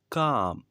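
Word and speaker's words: calm: का मतलब होता है कम कम इसमें ल साइलेंट है कम का मतलब होता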